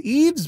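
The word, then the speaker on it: Yves: Wycliffe Yeaves is Eves. Y-V-E-S. How do you spell that? Eves, like Eves Saint Laurent.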